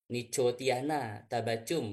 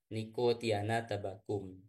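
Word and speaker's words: Nicotiana tabacum: latinnya ya itu membacanya Bukan no Tiana tabacum bukan ya tapi membacanya niktiana tabakum ya Ee mungkin pola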